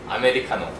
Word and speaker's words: 아메리카노: 아메리카노.